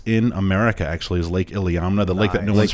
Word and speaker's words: Iliamna: The little town is called Iliamna, Iliamna, Alaska. How do you spell it? ILI. It was there it is. Iliamna.